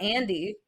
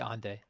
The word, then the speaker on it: Ande: It's like Ande. How would you say that? Because it's like not Andre. It's not Andy. To be Ande.